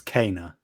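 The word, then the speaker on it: Kena: trying to correct anybody genuine question is it Kina Kenna like how do you pronounce that like it's it's it's Cana okay so I pronounce it correctly yeah same thing I said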